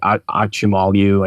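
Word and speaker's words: Acemoglu: Like if you read like Why Nations Fail, which is by Darren, I can never say his name right, Achimalu, I think is the way you pronounce it, and James Robinson, like that's what they argue, right?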